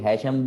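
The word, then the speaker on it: الهيثم: क्या नाम था मुस्लिम साइंटिस्ट का, इब्नुल, कुछ लोग हैशम भी बोलते हैं, हैतम भी बोलते हैं, तो जिस तरह प्रोनाउंस करना चाहें आपकी मर्जी।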